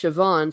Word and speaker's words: Siobhan: Archer Collins says, well, Siobhan is pronounced Siobhan, so I can see how the sounds change.